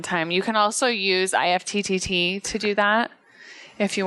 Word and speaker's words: IFTTT: IFTTT. Yeah. Yeah. IFT is how you say it.